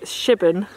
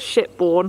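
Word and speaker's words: Shipbourne: stalks walking through the village of Shivan not ship-borne as I pronounced and borne is the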